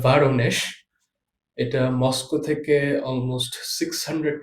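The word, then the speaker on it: Воронеж: যেটার উচ্চারণটা হবে ভারনেশ।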